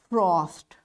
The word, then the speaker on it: frothed: That's why it's pronounced as, this ed will be pronounced as t, frothed.